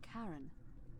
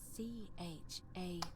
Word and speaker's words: Charon: Just as you described it, only your pronunciation is a little off. The name you heard wasn't Karen. It was C-H-A-R-O-N.